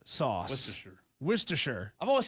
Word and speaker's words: Worcestershire: You're not kidding, Cole, about the pronunciation of Worcestershire sauce text messages. Texter says it's wash your sister sauce. I have heard that. And then another texter says it's pronounced Worcestershire sauce. Worcestershire.